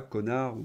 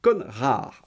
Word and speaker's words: Conrard: En effet, la dame que je vous ai montrée, Marilus Conrard, attention que je fasse pas, prononce pas connard, non, c'est Conrard, hein.